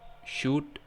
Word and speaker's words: should: And next we have silent L. It's written on the word, but we don't spell that out loud. For example, would, should, could, could, etc.